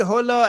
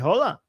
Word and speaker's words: hola: Hello, Durud, and shalom, and hola. Hola, not hola. Hola. Am I pronouncing it right? Hola? The H is silent? Yes, probably. Yes, it's silent.